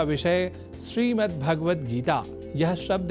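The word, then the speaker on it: श्रीमद्भगवद्गीता: जैसा कि मैंने उच्चारण किया श्रीमद्भगवत गीता जिसे अनवधानतावश हम श्रीमद्भगवत गीता या श्रीमद् भागवत गीता या भागवत गीता कर जाते हैं जो सर्वथा अशुद्ध है।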